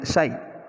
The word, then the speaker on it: psi: The pronunciation of this symbol, that is psi.